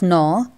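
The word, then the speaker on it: gnaw: the food now children in the spelling of no g is silent the spelling is g n a w but we spell it no next is hots question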